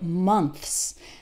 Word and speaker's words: months: and then s so words like months that's really hard because we have a th which is a sound that might not exist in your native language and then followed by an S and that transition can be quite difficult months remember that for th your tongue is between your top and bottom teeth okay do this in